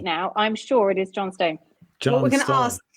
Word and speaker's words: Johnstone: I think you could just pronounce that with a bit faster. Johnston. Yeah. It's funny. More I like always called him Clark Johnston, but it's Johnstone. Like it's actually the other. It's not, is it?